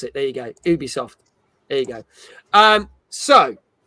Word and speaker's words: Ubisoft: you have probably heard about this but basically Ubisoft had to basically write a four page apology